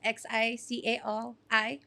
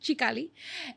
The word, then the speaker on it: Xicali: So I'm the jefa CEO, bruja of Xicali Products, spelled with the X, Xicali Products, Xicali. And I invent and hand make natural herbal remedies for anxiety, migraines, arthritis.